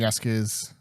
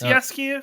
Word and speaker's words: Jaskier: duo of him and Jaskier. So I always say Jaskier, I don't know, whatever. I think it's that kind of J. I think it's Jaskier because it's Polish and the Y goes. That's why I always say